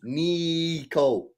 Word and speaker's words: Nico: He wants to be known as Nico, pronounced Nico.